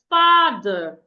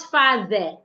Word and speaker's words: father: And the first here is, we can have words like father, not father.